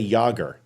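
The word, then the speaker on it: Jágr: favorite hockey player uh it's it's Jagger but could somebody say yogger if you're from checklist Sakia you could say Yer is that how yam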